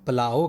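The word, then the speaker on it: plough: چلانا، اس کو بچوں ہم پلاؤ کہیں گے، جس طرح ہمارے ہاں کھانے والا پلاؤ ہوتا ہے، بالکل ویسے ہی یہی اس کا صحیح تلفظ ہے۔ اور پلاؤ کا سینونیم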